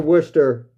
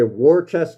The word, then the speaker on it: Worcester: I've been through Worcester.